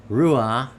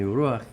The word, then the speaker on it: Ruach: C-H to me is the way you tell people that's the pronunciation of. It's not Ruach, because without the C there, it just says Ruach.